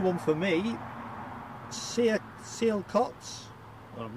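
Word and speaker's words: Sialkot: and Neville new one for me see it seal cots well I'm not pronouncing that correctly s-i-a-l-k-o-t Pakistan and Medina in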